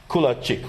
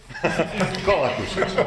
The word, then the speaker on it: Kolakušić: And another colleague from Croatia, Kulačić, right? Do I pronounce it correct? Right now, not. Kolakušić.